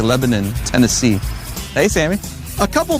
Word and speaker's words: Lebanon: It's spelled Lebanon, but here they say Lebanon, Tennessee.